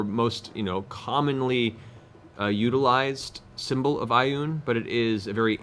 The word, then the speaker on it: Ioun: This is not the largely understood or most, commonly utilized symbol of Ioun, but it is a very ancient, the basis